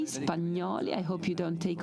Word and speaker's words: Spagnoli: Yesterday there was a representative of the Marini saying Spagnoli. Maybe this is the right pronunciation because of your French origin. I say that in the Italian way, Spagnoli.